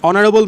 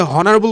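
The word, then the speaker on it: honorable: বলছে হি ইজ ডশ অনারেবল ম্যান।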